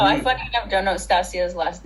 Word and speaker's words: Stasia: No, I funny enough don't know Stasia's last name. Stasia. Yes, Stasia.